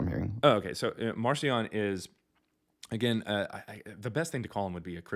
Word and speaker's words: Marcion: out in 144, and Marcion is what we call him today. His name was actually pronounced Markion back then, and that means little Mark.